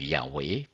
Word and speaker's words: Yahweh: then it offers its arguments in favor of Yahweh as a correct and original pronunciation this is from let your name be Sanctified Jehovah's Witnesses page 16 to 20.